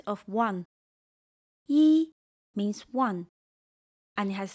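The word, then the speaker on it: 一: When E comes before a non-falling word, it sounds falling.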